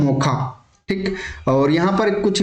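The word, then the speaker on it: Mocha: किया था मोचा और यह इसको प्रोनाउंस किया जाता है मोखा ठीक और यहां पर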